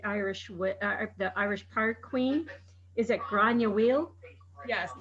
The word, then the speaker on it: Gráinne: Is it Gráinne? Yes, Gráinne.